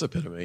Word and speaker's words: epitome: We play this game where Dakota mispronounces words he's read, and I try to pretend. Did you mean epitome? What? I said no. The epitome. Am I the only one? I'm looking around. It's epitome. Yeah.